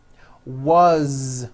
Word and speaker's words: was: As, you pronounce it with a voiced Z. As the phone rang. Was, which is a very common word.